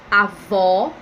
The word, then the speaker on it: avó: é diferente o acento então o primeiro eu tenho acento agudo e na segunda tem um acento circunflexo então vai ficar avó e avô perceberam ou seja no acento agudo é um som aberto avó e já